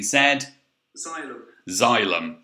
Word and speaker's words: xylem: xylem okay so this funny word here you actually pronounce xylem okay so z so although it starts with an x y which does make it look like a very hard word to pronounce it's actually said xylem okay that's just my uh little chum on